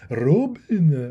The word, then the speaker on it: Robin: Non, ils disent pas Lobin, ils disent Robin avec un L roulé, comme les Espagnols.